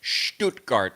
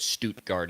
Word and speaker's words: Stuttgart: it was in Stuttgart don't you like how I pronounced that stuttgart needs to speak a little German so Shh scoot scoot you can actually do it Stuttgart as well but I think yeah